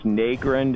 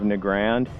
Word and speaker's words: Nagrand: it like wow Crandall always says Negron instead of nagrand and I mean you